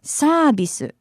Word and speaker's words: サービス: you, insisting that it's サービス, サービス, サービス, which is the Japanese pronunciation of the English word service, and it's used here to mean free.